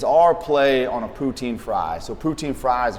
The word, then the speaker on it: poutine: I was just about to ask, have you witnessed anybody to finish the Is it poutine?